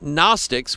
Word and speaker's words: Gnostics: And the Gnostics, with a G at the beginning, but the G is silent, or you can say